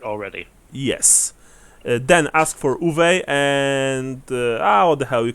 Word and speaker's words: Uwe: He pronounced it uva, like grape in Spanish.